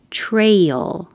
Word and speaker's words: trail: Trail. The A before the I, you only hear the A.